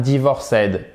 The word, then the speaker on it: divorced: Parce que l'accent tonique, il est là.